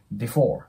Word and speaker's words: before: なんですけどこの before のねこの 4 ですねここよくねえ 4 ていう感じで青を発音される方いるんですけどこれ数字の 4 と同じ発音になりますなので 4